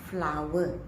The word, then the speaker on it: flour: students to understand but the real pronunciation is flower all right you may